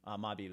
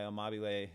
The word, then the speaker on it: Amabile: I'm just going with what it would be pronounced as if it was Italian. Amabile, A-M-A-B-I-L-E.